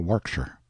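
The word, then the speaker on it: Warwickshire: Pronounced Cubri Flanover Marshbanks sellers Viccount Barkley of Chumley Castle, Warkshire.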